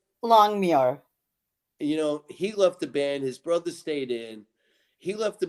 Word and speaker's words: Longmuir: And when Alan Longwin, if I pronounced his name right, Longmuir.